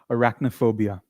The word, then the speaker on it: arachnophobia: Pronunciation goes like this which is arachnophobia.